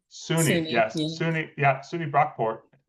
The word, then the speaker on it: SUNY: And from SUNY, is that pronounced SUNY. correctly? SUNY, SUNY, yes.